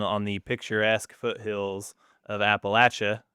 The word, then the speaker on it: Appalachia: I decided to stay down there a long time ago and plant my roots down on the picturesque foothills of Appalachia, how we pronounce it.